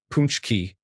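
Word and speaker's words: pączki: Paxki is the plural form pronounced punchki.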